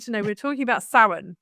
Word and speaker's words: Samhain: help me pronounce it saline. Is that right? No. The M is the M is actually weirdly silent as you know a lot of a lot of Celtic words are.